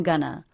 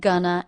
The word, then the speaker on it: gonna: second syllable the schah the first syllable is stressed gun and the second syllable unstressed uh Gunna GNA listen